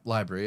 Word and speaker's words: LBRY: It used to be LBRY. You remember? library, yeah. Like library, yeah, and then it changed to Odyssey, but it's spelled Odyssey, Odyssee.